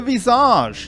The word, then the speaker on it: Visage: The Visage, yes, that's how you pronounce that, are a heart and a mask bound together in phase 1 by a chain.